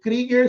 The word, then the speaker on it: Krieger: Krieger se escreve Kruger, mas sabemos que se fala Krieger.